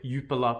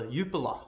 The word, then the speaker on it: Jupiler: belgian first division or jupiler pro league as i was alerted to it is not pronounced jupiler rather yupola so thank you for